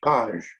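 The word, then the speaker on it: Pates: front of a headstone this spelled louie's name plus p-a-c-e-s but subsequent research confirms it as paj p-a-t-e-s in the bishops castle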